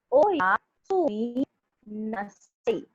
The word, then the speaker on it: oyasumi nasai: Good night is pronounced as oyasumi nasai. It's Oya Speak Sumina it Sai. by breaking it. Yes, Okay. yes. So when we speak all together, it is oyasumi nasai.